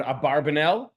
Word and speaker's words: Abarbanel: name is, because everyone usually uses the word Abarbanel, although the more likely pronunciation is Abravanel, which was actually not just one person.